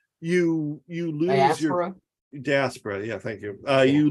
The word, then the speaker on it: diaspora: think that theme of like uh I always mispronounce this the dysphora just diaspora where like you you lose diaspora yeah thank you uh you lose your cultural